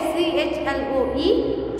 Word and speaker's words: Chloe: Okay, CHLOE, slow, but pronounce was KLOE, Chloe.